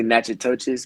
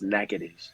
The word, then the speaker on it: Natchitoches: people are gonna say Natchitoches, but it's Natchitoches.